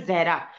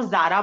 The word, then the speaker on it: जहरा: मेरा नाम, एक्चुअली मेरा नाम जो है जहरा, तो मोस्टली जो नॉन मुस्लिम्स होते हैं वो प्रोनाउंस नहीं कर पाते, वो जारा बोल देते हैं, ठीक है।